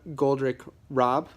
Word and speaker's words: Goldrick-Rab: paying the price by Sarah goldrich Rob I believe is how her name is pronounced who is a researcher